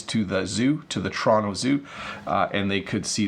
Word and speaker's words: Toronto: Notice when I say Toronto, I pronounce it really clearly, but when I speed up, I say Toronto.